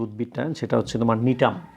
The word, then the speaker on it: Gnetum: উদ্ভিদটা, সেটা হচ্ছে তোমার নিটাম। নিটাম শব্দটা কিন্তু প্রথমে জি আছে, GNETUM, নিটাম।